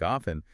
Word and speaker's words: often: So, when they added the N suffix to make often, the T naturally fell away, just like it did in soften.